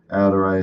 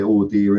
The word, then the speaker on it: audere: Audere est facere, or as we used to say, audire est facere, because we didn't know how to pronounce Latin.